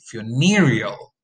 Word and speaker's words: funereal: The word funeral is stressed on the first syllable, but there is a stress shift when you have the adjective funereal.